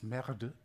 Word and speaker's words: MR2: And the reason it was a disaster in France is that MR2, pronounced in French, is merde.